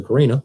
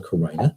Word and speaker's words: carina: and it goes to the Carina or the Koran depending on how you like to pronounce that once it goes